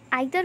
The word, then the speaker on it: either: आइदर को हम ईदर भी बोलते हैं एंड नाइदर को हम नीदर भी बोलते हैं। दोनों उच्चारण बिल्कुल सही हैं।